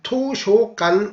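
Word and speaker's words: 図書館: 우리는 도서관 그리고 중국 발음으로는 토슈관 이렇게 발음하는데요. 일본 발음에서는 이게 토쇼간 이렇게 발음합니다. 여기서 한국어의 서에 해당하는 이 어 발음은 대부분 일본 발음에서는 이 요 발음으로 많이 납니다.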